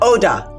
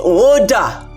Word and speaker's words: Oda: while, but you know my name is not Oda. It's Oda. You say it like there are 3 O's in front of it.